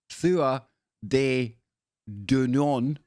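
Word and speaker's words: Tuatha Dé Danann: Tuatha de Danann, pronounced Thua de Danann, I'm just going to call them the tribe of Danu from now on.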